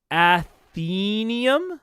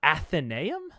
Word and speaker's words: Athenaeum: Isn't it pronounced Athenium? Like Athena. Oh, Athenium. Not Athenaeum? Athenium.